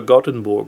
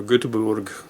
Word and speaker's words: Göteborg: But we're supposed to go to Gothenburg or Göteborg, depends how which way you want to pronounce it over there, which is a port